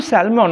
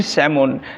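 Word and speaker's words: salmon: পাব স্যালমন এখানে কিন্তু স্যালমন নয় কারণ এল লেটারটা এম এর আগে রয়েছে সুতরাং এটা হবে ইট উইলবি সমন লাইক ওকে এটা উচ্চারণ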